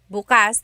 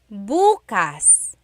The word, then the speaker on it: bukas: If you say bukas buas the emphasis is on the second syllable that means open. If you say buas emphasis is on the first syllable that means tomorrow.